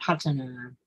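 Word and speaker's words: padhāna: And these are called padana. Padana. P-A-D-H-A-N-A. 4 padanas. Yeah, padana. Padanas, yes. Put the emphasis on the correct syllable.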